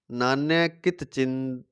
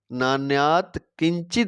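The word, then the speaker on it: नान्यत् किञ्चित्: मत परतरम नान्यकित चिन नान्यकित चिन मत्त परतरम नान्यकित चिनत नान्य किित चिन मत्ता परतरम नान्यात कित चिन दस्त ये गलत हो गया सही उच्चारण है इसका मतः परतरम नान्यात किंचित दस्ति जो दो में श्रेष्ठ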